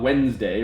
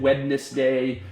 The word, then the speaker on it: Wednesday: clap like wednesday um it has two syllables right no doubt about it uh there's no nobody pronounces it wednesday um it is it